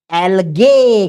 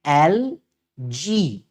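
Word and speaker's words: algae: एलगे। गे नहीं बोलने का। इसका करेक्ट प्रोनाउंसिएशन है एल जी।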